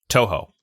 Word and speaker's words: Toho: I mean, unless you're a big Tojo fan. Tojo? No. Who makes Godzilla? Toho. Yeah, Tojo is someone else. You're adding like a Spanish J onto the pronunciation. Yeah, Toho.